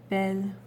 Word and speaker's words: bel: Then we have le bel homme, which is the handsome man, and it has to be bel, B-E-L, because homme begins with a silent H.